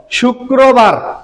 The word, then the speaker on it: শুক্রবার: ওকে, তারপরে দেখো শুক্রবার।